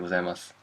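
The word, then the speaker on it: ございます: But this gozaimasu, ohayo gozaimasu, you might not pronounce the last su as su, but ohayo gozaimasu. That's it.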